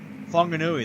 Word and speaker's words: Whanganui: Whanganui, that's how you pronounce it.